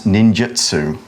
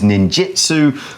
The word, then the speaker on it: ninjutsu: and what they do, is known as ninjutsu. Okay, you might sometimes hear it as ninjutsu, but it's spelled with a U.